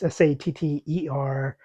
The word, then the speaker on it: Satterthwaite: Satterthwaite, it's hard for me to pronounce it, but it's Satterthwaite. So it almost makes me have to have a lisp. Um, Mr. Satterthwaite doesn't have a first name that we know of.